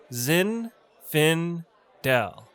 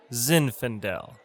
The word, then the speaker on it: zinfandel: of pinot noir pinot noir that's how you pronounce pinot noir next we have zinfandel zinn finn dell zinfandel hey bartender how about a couple of bottles of zinfandel it's pronounced zinfandel next we have malbec malbec i'll take a